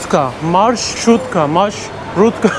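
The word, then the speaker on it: маршрутка: Ben diğer videolarımda sürekli matruşka diyordum. Matruşka değilmiş. Marşrutka öyle bir şey hala telaffuz edemiyorum ya.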